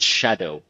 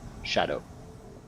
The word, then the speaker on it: Scadu: but no it's because the S and C Sound actually make a sh sound like an X so it's pronounced Shadow must kill host die